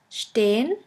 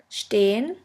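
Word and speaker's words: stehen: means to speak and the second one is stain stain which means to stand Shula repression Steen the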